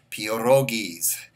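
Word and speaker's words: pierogies: it's p IE r o g i es peor oh geez or give that fried fish dinner a little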